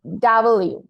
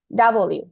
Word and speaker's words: W: তোমার প্রোনাউন্সিয়েশন ঠিক আছে ডাব্লিউ কি হবে ডাবল ইউ হ্যাঁ ডাব্লিউ না ডাবল ইউ ঠিক আছে এখন নাসরুল্লাহ